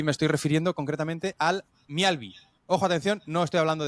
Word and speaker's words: Mjällby: en sueco, se dice Mjällby, ¿vale? Se escribe MJA con diéresis LLBY, pero se pronuncia Mjällby.